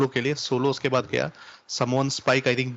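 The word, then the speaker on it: Sami: और सऊदी की जो ऑडियंस है वो उनको सैमी नहीं सामी बोलती है। हाँ नहीं मे भी हो सकता है वो नाम में कुछ होगा, क्योंकि अरेबिक प्रोनाउंसिएशन अलग होता है, अरेबिक प्रोनाउंसिएशन थोड़ा अलग होता है।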